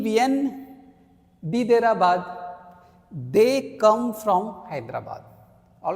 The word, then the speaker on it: Hyderabad: Now you will say, sir, Hyderabad, H is not a vowel, but in French language, H here is a silent. All right. So when H is silent, we have to consider it as a vowel sound.